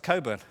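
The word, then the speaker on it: Cockburn: kur but then again she'll also mentioned Alistair Coburn where it's completely silent they also does occur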